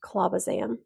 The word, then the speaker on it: clobazam: Next, we have lacosamide or Vimpat, phenytoin or Dilantin, topiramate or Topamax, clobazam or Onfi. You might also hear that pronounced clobazam.